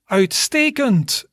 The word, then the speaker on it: Uitstekend: Uitstekend. Uitstekend. So that's 3 syllables.